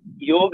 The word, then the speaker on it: योग: उच्चारण हो गया वेद, सीधे वेद उच्चारण है, योग उच्चारण है, न कि योग, न कि योगा।